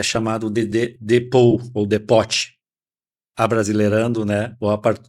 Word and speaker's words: depot: Então, no comércio exterior e na logística internacional, a palavra depote, a pronúncia certa é depot ou depot, significa terminal de containers vazios ou pátio de vazios, tá?